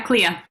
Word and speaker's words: Clea: Yeah, Clea.